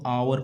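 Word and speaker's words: hour: ये देखो एच ओ यू आर एच ओ यू आर इसमें एच साइलेंट रहता है तो इसको आवर पढ़ा जाता है।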